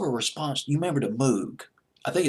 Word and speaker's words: Moog: You remember the Moog? I think it's how you pronounce it, the Moog or the Moog, M-O-O-G.